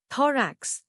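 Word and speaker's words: thorax: थोरेक्स नया लफ्ज थरेक्स इसको तोड़ते हैं दराक्ष जोर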